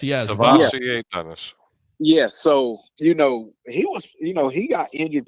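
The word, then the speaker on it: SirVocea Dennis: Savassier Dennis. Yes. Savassier Dennis.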